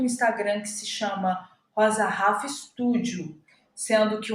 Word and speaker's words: Rhafa: profissional, que é Rosa Rafa, sendo que o Rafa se escreve Rhafa. Então, Rosa Rafa, com esse H aí no meio.